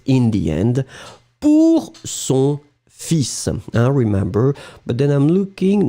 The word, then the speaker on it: fils: So it's quite interesting because in fact, normally final S is not pronounced in most of the cases. We always have some exceptions. But in this situation, we really pronounce the S And strangely, we don't pronounce the L. Hein? Fils, F-I-L-S. You don't pronounce the L, you pronounce the final S.